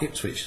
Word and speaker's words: Ipswich: that's called this hip is quick it which eventually becomes pronounced Ipswich so messengers don't learn